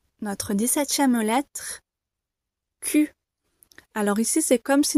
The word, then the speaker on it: Q: et un U, ce qui donne K. Q. Attention car le son U n'est pas présent dans toutes les langues, donc très difficile à prononcer pour certaines personnes. Et l'intonation ici est descendante.